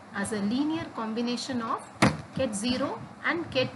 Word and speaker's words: ket 0: These states 0 and 1 is to be pronounced at ket 0 and ket 1.